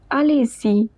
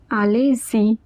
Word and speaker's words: allez-y: Next is allez-y. Focus on the pronunciation. Allez-y.